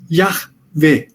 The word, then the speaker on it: Yahvé: Agora, Outras versões modernas usam, por exemplo, a Bíblia de Jerusalém usa Yahvé. Y, que é o Yod hebraico, A-H-W-E-H, Yahvé. O H é pronunciado, ao contrário do português, nas línguas semíticas, o H é pronunciado, Yahvé.